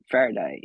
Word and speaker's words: Faraday: Of course, you're a co-founder for Fidata, which is the data company, but you're also the CFO for Faraday.